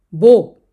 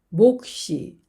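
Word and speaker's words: 몫: 세 번째 단어들을 보겠습니다 겹받침 기역 시옷 목 목 앞에 있는 기억만 발음이 되고 시옷 탈락이 되었습니다 그런데 몸을 만나면 목시 목시 앞에 있는 기억 받침은 발음이 되고 옷은 다음으로 이동을 합니다 그래서 목시 시라고 읽습니다 바침 리을 옷을 보겠습니다 외골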